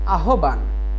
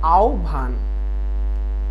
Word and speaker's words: আহ্বান: আমরা সচরাচর উচ্চারণ করি আহ্বান, কিন্তু এটি ভুল উচ্চারণ। উচ্চারণ হবে হচ্ছে আহ্বান।